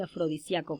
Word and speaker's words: afrodisíaco: respuesta es fácil porque estas palabras tienen dos posibles pronunciaciones correctas y aceptadas por la rai y por tanto se pueden escribir de dos maneras como es en el caso de afrodisíaco sin tilde y afrodisíaco con tilde muchas gracias jóvenes estoy